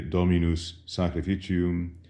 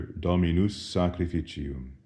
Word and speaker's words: Dominus sacrificium: Observe that the S of Dominus and the S of sacrificium, since they are right next to each other, can be elided. One doesn't say Dominus sacrificium, but rather Dominus sacrificium.